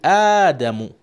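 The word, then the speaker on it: آدم: And instead the person said Adam. Adam, would you feel happy? You will not feel happy. The name's supposed to be Adamu, which is the correct pronunciation, right? The Hamza is stretched.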